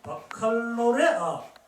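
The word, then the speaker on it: baccalauréat: 영어인데 인터내셔널 바칼로레아 저 T는 묵음입니다. 바칼로레아라고 합니다.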